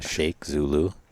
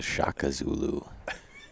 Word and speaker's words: Shaka Zulu: Such as the Shaka Zulu. I'm not sure you can come Say up that with again. a better name. It's not the Sheikh Zulu. It's not the Sheikh Zulu. It's the Shaka Zulu.